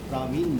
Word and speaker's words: प्रवीण: प्रवीण मोहन, जैसे उर्दू में लड़की का नाम लिखते हैं ना परवीन, परवीन। हाँ। तो उसका नाम की स्पेलिंग तो वैसे ही आती है, लेकिन शायद पढ़ते होंगे प्रवीण मोहन।